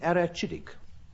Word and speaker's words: arachidic: Frank, can you hazard a guess as to the meaning of the word archidic? You might prefer me to pronounce it arachidic.